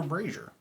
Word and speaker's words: brazier: There is a silver brazier. Brazier. Cool. Yeah, and I pronounced it correctly.